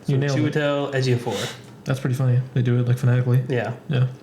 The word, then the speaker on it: Chiwetel Ejiofor: I found a pronunciation. It's Chiwetel Ejiofor. Right, you nailed it. Chiwetel Ejiofor.